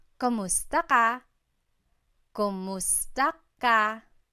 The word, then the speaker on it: kumusta: you in Tagalog, it's Kumusta ka? Kumusta ka? So it's spelled K-U-M, kumusta ka. But sometimes you might hear some people say kamusta ka, like it's a K-A sound.